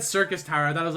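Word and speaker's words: Syrcus Tower: outside world to work then yes oh it's pronounced circus Tower oh okay so circus Tower well thank you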